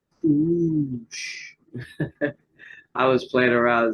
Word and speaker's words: Cush: Let's just say here, they say the Hebrew word Cush is pronounced with 2 O's. Kush. Kush.